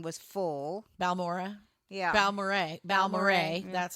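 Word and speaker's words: Balmorhea: Balmorray.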